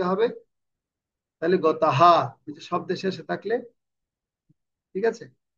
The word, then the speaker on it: গতঃ: যেমন আমরা এখানে বলছি পরমাম গতাহা, আ আ গতাহা, বড় করে বলছি না, মানে এটা এটা পূর্ণভাবে উচ্চারণ করছে হটা।